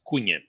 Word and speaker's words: Cunha: Yeah, it's Cunha. Cunha. Cunha. Yes, Koo, bullet point, EEN, bullet point, YAH. But it's spelled CUNHA, which I never would have got.